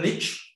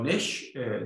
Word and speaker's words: niche: you know the niche, or niche, depending on the pronunciation.